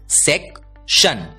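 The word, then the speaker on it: section: से पढ़ने वाले हैं क्योंकि एस ई सी इस तीन अक्षरों का आवाज होता है सेक टी आई ओ एन की आवाज होती है शन और इसलिए एस ई सी टी आई ओ एन इस शब्द का उच्चारण होता है सेक शन सेक्शन अगला शब्द देखते हैं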